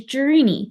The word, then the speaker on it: Gereny: My last name is Gereny, which is Greek.